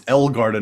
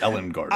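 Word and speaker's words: Ellegarden: pale and Dusk and it's elgarden not Ellen Garden I said it right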